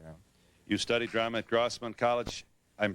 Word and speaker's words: Grossmont: You studied drama at Grossmont College. I'm pronouncing it correctly. Grossmont, yeah.